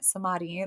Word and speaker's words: samadhi: Number 4, personal liberation and the potential of reaching samadhi, the state of oneness.